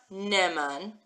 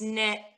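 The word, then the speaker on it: נאמן: pause in the word, because it's not neman. If it was neman, we wouldn't need this aleph here at all, and we wouldn't need this cute little triangular dots letter, vowel, under here at all either. If it was just neman, it would be like this, neman. But it's not. It's ne'eman, ne'eman.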